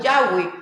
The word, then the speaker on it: Yahweh: en el Antiguo Testamento, lo más cercano es Yahweh, como lo han traducido las Biblias católicas.